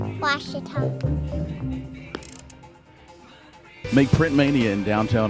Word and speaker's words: Ouachita: How would you pronounce it? Ouachita. Ouachita. It's Ouachita Baptist University. Get it right. It's Ouachita, people. It's Ouachita. Ouachita.